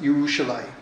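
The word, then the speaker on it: ירושלים: shall n without malice but it is pronounced yerushalaim by Jews and in Jewish dialects that's a very interesting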